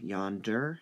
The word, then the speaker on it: yonder: Yonder has 2 syllables, so it gets 2 marks. Notice how we're saying it. Yonder. Yonder. The yon part is stressed. If you said yonder, well, just doesn't sound right.